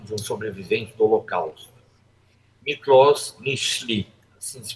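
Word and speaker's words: Miklós Nyiszli: comentar o relato de um sobrevivente do holocausto mlos michle assim se pronuncia médico Húngaro de origem Judaica sobrevivente de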